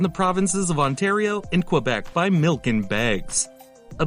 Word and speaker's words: Quebec: the province of quebec which is pronounced quebec that number is close